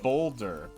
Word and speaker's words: Baldur's: It's Boulder. It's Boulder's Gate, like Bolder, I believe. But it's spelled Baldurs. Yeah, it's the Norse spelling.